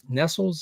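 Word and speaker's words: Nestlé: Nestles is how you say it.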